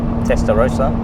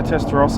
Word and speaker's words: Testarossa: I was even looking up how to pronounce it. Testarossa.